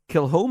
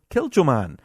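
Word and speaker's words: Kilchoman: mispronouncing now for ages prime example would be uh kilom and Distillery I've always been calling them kilan um so thank you to heever corrected so kilom and Distillery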